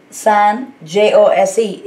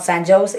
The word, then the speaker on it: San Jose: indians they don't seem to know how to pronounce this so san j-o-s-e is not san jose it's san jose so it's because of the